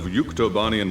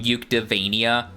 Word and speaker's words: Yuktobania: I'm not gonna lie, I'm thinking of the mispronunciation Yuktavania in like the ending cutscene of Ace Combat 7. Yuktavania instead of Yuktobanian, or Yuktobania in this case.